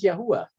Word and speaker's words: Yahuwah: Therefore, I use the four Hebrew letters Yod, He, Vav, He, in English YHVH, and to pronounce it as Yahuwah instead of Lord, which is a title and not a name.